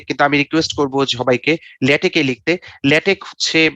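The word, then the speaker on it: LaTeX: Anyway, paper আমরা সাধারণত লিখি হচ্ছে ওয়ার্ডে, কিন্তু আমি রিকোয়েস্ট করবো সবাইকে ল্যাটেকে লিখতে। ল্যাটেক হচ্ছে, এটা ক উচ্চারণ, সাধারণত ল্যাটেক্স বলি, কিন্তু আসলে কানুত বলেছে ল্যাটেক অ্যাজ আই কল।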